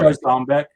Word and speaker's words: Jarzombek: Hey, Ron, do you say Jarzombek or Jarzombek? I know. Jarzombek. Yeah. Yeah. You say Zom?